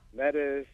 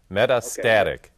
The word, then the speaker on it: metastatic: going to talk about medicis did I say it wrong doctor me out here yeah Meta Meta metastatic okay metastatic I don't it